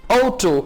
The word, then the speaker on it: Auto: das ist ein Auto यानी ए यू को आप प्रोनाउंस करेंगे औ.